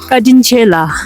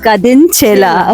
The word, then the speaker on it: Kadinchela: Kadin Chela. Kadin Chela.